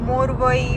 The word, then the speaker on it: Muriwai: रहा है कि हम मोरई मोरवाई मोरवा ऐसा कुछ बीच पे जा रहे हैं। तो धारा उसका प्रोनाउंस है कि मुरवाई बीच।